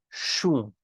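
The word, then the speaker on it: શું: both of them often you're going to hear Gujarati speakers pronounce them as a sa as in like an S sound uh the most common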